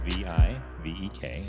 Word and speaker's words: Vivek: It's spelled V-I-V-E-K, and the V-I is pronounced like the V-I in Victor, and the V-E-K is pronounced Vake.